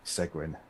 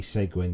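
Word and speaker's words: Seguin: um instagram just uh so his his surname is spelt s-e-g-u-i-n so his so the instagram is actually at ed segwin so it's e-d-s-e-g-u-i-n that i'm just i'm just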